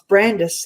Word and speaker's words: Brandys: That you were saying that your name it's spelled Brandys, and I totally stuffed that up when I first introduced myself to you, and you said no, it's Brandis, like Candace.